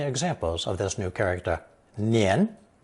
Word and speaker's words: 年: It's pronounced second tone, nian, nian.